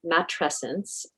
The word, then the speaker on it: matrescence: And what we know from research, we now have a new term, matrescence, rhymes with adolescence and refers to the